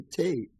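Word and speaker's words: thé: Because there's no TH sound in French.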